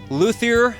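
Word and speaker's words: luthier: by this Luther here luier is that how it's pronounced that is correct okay and and your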